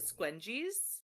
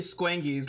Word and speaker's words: Squangis: Does this campaign pronounce it squenies? No, it's definitely Squangis.